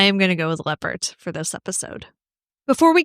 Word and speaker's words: Leppert: Um, Robert Stack called her Tammy Lyn Lebert. Ah. And I was like, that can't be right because it's definitely spelled leopard and then everything else I saw pronounced it leopard.